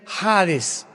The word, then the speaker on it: Hades: Esta versión del griego, del hebreo al griego, se tradujo la palabra Seol con Hades, con H, que muchos dicen Hades. Se puede pronunciar así porque es en el griego.